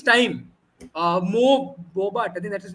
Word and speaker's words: Bobat: Mo Bobat, I think that's his name. Yeah, if I'm Mo pronouncing Bobat.